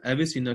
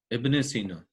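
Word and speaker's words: ابن سينا: एविसीना कोई और meaningful word नहीं है, ये जस्ट इब्ने सीना की रॉन्ग प्रोनाउंसिएशन है.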